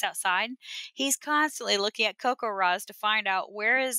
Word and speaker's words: CoCoRaHS: It's a little bit adjacent, but CocoRa's.